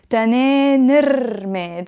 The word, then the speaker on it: تنين الرماد: تنين الرماد, but I'm pronouncing it as تنين الرماد, okay? Because the رماد is it starts with a ra, and the ra is a sun letter.